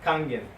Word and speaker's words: Kangen: How you pronounce it? Kangen.